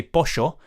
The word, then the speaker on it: pollo: When you say pollo, which means chicken, if you say pollo, basically they pronounce the double L's as sh.